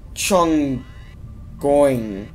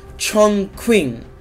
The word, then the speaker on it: Chongqing: Chongqing, because the Q is a king. Okay, well, the Q is like a K, but with a silent, not really a silent, but like a Q sounding K, if you get what I'm saying.